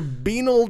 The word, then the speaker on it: banal: They defended their banal discussion.